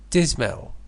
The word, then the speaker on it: dismal: investigation okay number three dismal first syllable is upon us it's a stress dismal is dark and